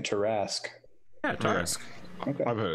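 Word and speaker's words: Tarrasque: It took me a moment to realize you were saying Tarask.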